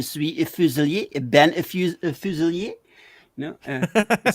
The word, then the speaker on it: Fuselier: It's it's usually pronounced Fuselier, but Fuselier technically is Right. probably more correct than the way we pronounce it. So Right. It sounds French. it's kind of an English version of French.